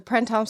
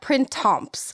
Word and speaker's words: Printemps: doing good though, because the one thing I do know is you do not really pronounce the P or the S. Good, so okay. like you don't say it like, it's not Printemps.